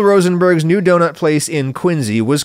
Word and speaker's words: Quincy: Anyway, Bill Rosenberg opened his first donut shop in 1948 in Quincy, Mass., which is pronounced like a Z, Quincy, not Quincy.